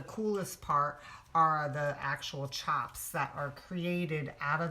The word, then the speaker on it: tjap: takes to make a chop and I guess it's it's dependent on the design but it's spelled TJ a PS but you say it's ch Oh PS so that's what